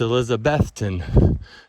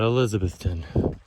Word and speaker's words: Elizabethton: in on this too it's elizabethton not elizabethton there's nothing quite like